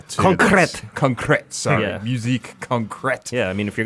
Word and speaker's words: musique concrète: in the middle to compressed concrete so yeah musique concrète yeah I mean if you're gonna try to